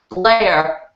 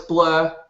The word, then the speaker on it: Blair: It should be pronounced Blair, but in my lingo it's Blur.